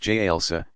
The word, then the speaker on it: jalsa: Sitting on the heels, jalsa, pronounced jalsa, stretching forward toward prostration.